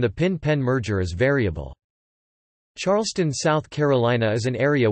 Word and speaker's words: Charleston: the city, to which a standard listener would hear Charleston with a silent R.